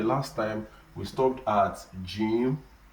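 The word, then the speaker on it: جيم: Jim, that's how we pronounce it. We pronounce what? Jim. That is a light J, with a light J.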